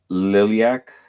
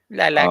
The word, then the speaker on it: lilac: blue, blue, brown, pink, liliac. Am I pronouncing that correctly? Lilac. Um lilac.